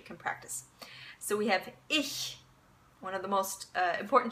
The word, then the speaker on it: ich: in German okay um now when you make that sound you make that sound when the CH is preceded by e eh eh mmm or I okay and I'll give you